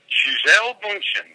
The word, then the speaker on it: Gisele Bundchen: Gisele Bundchen, that's how you pronounce it.